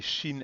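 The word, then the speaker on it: שׁ: like that so we've got two sounds there shin and sin none of these have final forms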